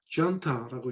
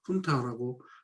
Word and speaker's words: junta: 영어로는 훈타라고 읽고 이게 브리티시 영국 발음으로는 junta라고 읽는데 사실은 스페니쉬어고 영어는 미국 사람들은 그것을 이제 원어 스페니쉬와 가까운 발음을 하겠다 해갖고 훈타라고 지금 소리를 냅니다.